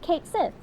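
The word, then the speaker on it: Cait Sith: Kate Sith it is. But I figure I figure rouge like pop in with a Oh, in modern paralance it would be be pronounced Kate Sith.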